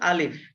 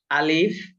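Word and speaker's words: ألف: আলিফ। আলিফ। আলিফ উচ্চারণ করার সময় শেষে আপনার ফা আর একটা উচ্চারণ ফ হবে।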